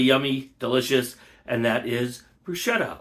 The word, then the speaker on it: bruschetta: delicious and that is bruschetta or brusketta I'm not sure the exact pronunciation I've heard it both ways I think the right way to say it is brusketta uh in Italian but don't hold me to that uh anyway uh very